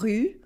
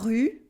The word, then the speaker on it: rue: As in, for example, la rue for the street, la rue, and la roue for the wheel, la roue. Can you hear the difference? La rue, la roue, la rue, la roue, OU, U, OU, U.